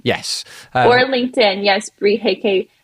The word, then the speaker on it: Huyke: or LinkedIn yes Bri HEK HEK is spelled h u y ke doesn't look like how it's pronounced it does not because